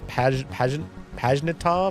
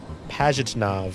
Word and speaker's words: Pajitnov: I mispronounced his last name. It's a Russian name. It's Pajnitov or Pajnitov. But he's amazing. This is the dude right here. present day. Pajitnov, Alexei Pajitnov.